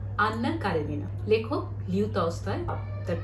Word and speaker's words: Anna Karenina: According to Russian pronunciation, Anna Karenina.